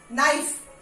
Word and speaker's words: knife: N के पहले जो भी वर्ड्स में यूज किया है वहां पे साइलेंट. नाइफ, हम इसको इसी को प्रोनाउंस करते हैं.